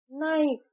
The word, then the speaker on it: knife: नाइफ नाइफ की spelling है के एन आई एफ ई बट जब नाइफ हम बोलते हैं तो एन आई एफ ई नाइफ कहते हैं। नाइफ नहीं कहते तो यहां के साइलेंट है।